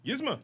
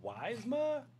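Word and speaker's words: Yzma: Um, can you pronounce this for me? Yizma. Yizma. Thank you. I think the first time I did this I was like Wisma Wisma.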